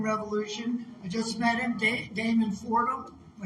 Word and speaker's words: Damon Fordham: I just met him, Damon Fordham.